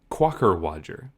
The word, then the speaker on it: quockerwodger: Quacker Wadger. Quacker Wadger. Let me spell it for people that want to just like destroy at Scrabble.